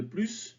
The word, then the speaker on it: plus: d'abord les phrases négative le s de plus ne se prononcent jamais alors attention toutefois quand